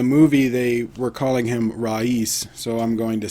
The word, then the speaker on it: Raees: I've also heard it pronounced Race or Raees, but in the movie they were calling him Raees, so I'm going to say that.